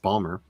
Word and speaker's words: Baltimore: years old wow in Baltimore Maryland It's called Shore leave it takes place in Hunt Valley which is just North of Baltimore and which I do know is properly pronounced Balmer um and it's a